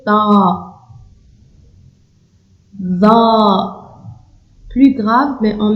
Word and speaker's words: ط: Ici, on prononce avec un son plus grave. Ta, c'est pas T, c'est Ta.